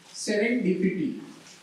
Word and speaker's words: serendipity: I'm the word master of the day, and the word of the day is serendipity. We pronounce red dip E-T.